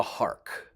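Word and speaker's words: Harcq: the name of Clara hark h-a-r-c-q I think it's pronounced like that she was already married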